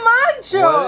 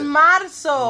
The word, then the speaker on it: Marzo: It's not Marcho. It's Marzo. Marzo. With a Z. Are you sure Marzo? No. It is Marzo. You sure? I think so. Enero, Febrero, Marzo.